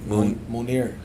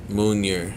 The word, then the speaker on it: Munir: Munir. Munir. Yeah, like a moon and an ear. Munir.